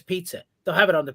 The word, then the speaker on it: Pizzi: you know that I it's like pizza with an e on the end we do say that